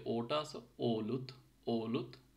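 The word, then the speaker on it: olut: সো অলুতে যে ওটা আছে, ওলুত, ওলুত, ও, নর্মাল ও, ঠিক আছে, ওলুত, ও, ওষুধ, ওয়ো, ঠিক আছে, ওলুত, ওষুধ, ওগুলো।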